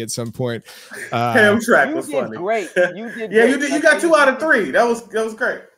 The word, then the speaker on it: Hamtramck: Hamtrak? Oh, my God. It's Hamtramck.